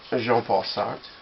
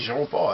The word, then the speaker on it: Jean-Paul: them and say hey jean-paul how you doing i'm actually not pronouncing that correctly because it's not jean it's j j paul but you're going to